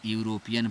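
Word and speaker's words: European: क्योंकि इसको यूरोपियन पढ़ेंगे। य आएगा उच्चारण में।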